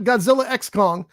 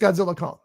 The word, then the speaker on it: Godzilla x Kong: or whatever um and the X is not pronounced it's just just put there for a like like a as a symbol doesn't mean anything so it's not Godzilla X Kong it's just Godzilla Kong